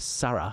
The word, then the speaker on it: Sara: No way Sara Bejlek Sara, I should say is really how you pronounce it.